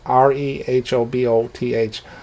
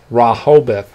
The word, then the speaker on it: Rehoboth: you are pronouncing rahulbith it's r-e-h-o-b-o-t-h wrong it's pronounced raw hobith not rehoboth so i apologize if